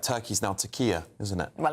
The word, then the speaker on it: Türkiye: Türkiye.